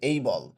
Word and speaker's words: able: Will বি এবল টু বা এইখানে এবল এর উচ্চারণটা কিন্তু আসলে স্ট্যান্ডার্ড উচ্চারণ হচ্ছে এই বল।